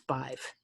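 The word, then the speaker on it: Badb: And what sucks is Bive is spelled B-A-D-B. You want some Irish spelling bullshit? It's Bive, from what I understand.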